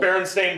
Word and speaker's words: Berenstain: the movie yeah so berenstain bears is the prime example it's spelled sta i n and everybody calls the st ein so exactly so that's